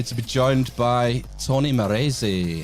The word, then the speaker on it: Marresse: And tonight very happy to be joined by Tony Morzi. How you doing Tony? I'm doing good. Thanks for the perfect pronunciation then.